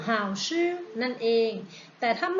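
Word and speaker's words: 好吃: เอง เรา จะ ออก เสียง หรือ เปล่า ชื่อ How ชื่อ แปล ว่า อร่อย นั่น เอง แต่ ถ้า ไม่ อร่อย นะ เลย ขา ออก เสียง คำ ว่า ผู้ หา ชื่อ ผู้ How ชื่อ นั่น เอง แต่ ถ้า ไม่ ค่อย อร่อย เท่า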